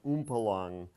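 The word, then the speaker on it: Umpolung: about the concept of oompa long dipole inversion let me write that out it's a concept that was introduced by a Bock in the 1970s it's a German word hence the the strange pronunciation and I'll show you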